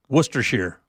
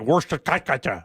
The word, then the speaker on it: Worcestershire: Worcestershire. Oh, Worcestershire. No one gets that one so right. They have it pronounced because it looks like Worcestershire, right? But it's Worcestershire.